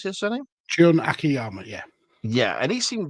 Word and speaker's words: Akiyama: Was that how you pronounce his surname? Jun Akiyama, yeah.